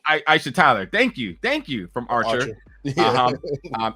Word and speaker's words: Aisha Tyler: You have I always make sure I want to say her name right, Aisha Taylor, or is it Aisha Taylor? Either way, Aisha Tyler. Aisha Tyler.